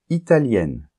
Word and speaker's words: italienne: par exemple italien italienne et là il y a une différence de prononciation puisque italien masculin on entend la nasale un Italien et italien féminin on entend le N la lettre N que on nentend pas pas dans le masculin italien italienne et en plus le